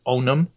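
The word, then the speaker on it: Ownum: ohio-based technology incubator called onum how does he spell that o-w-n-u-m yeah all right i own them right right okay uh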